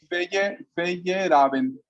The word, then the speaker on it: Feyerabend: Creo que Perdón que te es un hito lo que dijo este señor, no puedo pronunciar su nombre, pero algún día me lo va a... Feyerabend.